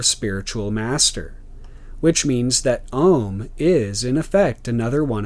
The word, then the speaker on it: om: middle and the end this sign in fact breaks down into a-u-m or om i.e the three latin letters which correspond to the three constituent elements of the mono-syllable ohm the vowel o and sanskrit being formed by the union of a and u the association of this